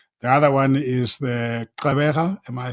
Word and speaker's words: Gqeberha: The other one is the Gqeberha, am I saying it right? And of course, East London. Yes, Gqeberha, yes, Port Elizabeth, Yeah.